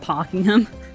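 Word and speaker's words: Pakenham: [screaming and groaning] We have a place in Australia called Parkingham. It's not spelled that way, but that's how it's said.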